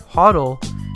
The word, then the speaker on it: HODL: As cryptocurrency markets began their volatile downswing throughout 2018, the phrase HODL, spelled differently than hold and pronounced similar to huddle, emerged from the crypto community.